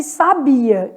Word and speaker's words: sabia: Aí, eu estou com sábia e sabia. Então, vamos fazer aqui, ó, sabia. Sabia separa, ó, hiato. São sílabas separadas.